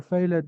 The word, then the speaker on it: failed: Have you ever failed an exam? No, I haven't. Thank you, boys. This is amazing. But this is what, Ghadi? Failed. Failed. Okay. So please, the E is silent. Lived and failed.